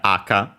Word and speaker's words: 赤: seen them and yeah aka accent on the first uh syllable the first moa h high low red uh crimson scarlet